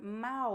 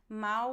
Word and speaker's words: mal: you about brazilian portuguese we don't pronounce the l at the end of syllables so at the end